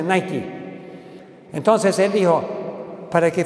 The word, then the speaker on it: Nike: Él dijo, me llevaron a California y me dijeron, vamos a firmar un contrato con Nike, los zapatos Nike, que se pronuncia Nike.